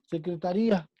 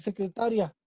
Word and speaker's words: secretaría: Secretaría, que sabemos que lleva un acento, pero si no le ponemos el acento, pues ya va a decir secretaria.